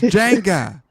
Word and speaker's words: Django: My name is Jenga. The D is silent.